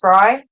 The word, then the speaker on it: Brey: Are you referring to Bry? Bray? Is that how it's pronounced, Bry? Yes.